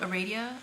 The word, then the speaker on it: Aradia: So at your school, the school is called Aradia Academy. Is that how you pronounce it? Mm-hmm. Yes, that's right.